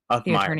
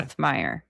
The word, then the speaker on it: Uthmeier: So, is it James Uthmeier or Authmeier? Authmeier. general. Yeah. Authmeier. I've been saying it wrong.